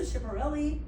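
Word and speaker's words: Schiaparelli: Elsa Chipperelli is the one that ended up on the cover of Time. So Elsa Chiparelli, am I saying it right?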